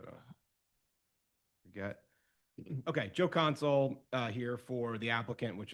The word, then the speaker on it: Consul: yeah, it's Consul, last name's Consul, Console.